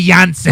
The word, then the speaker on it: Jansen: drag Yanni Jans Yanni Jansen so is he from Israel no uh his name is spelled j n but it's pronounced with a yah he sounds like a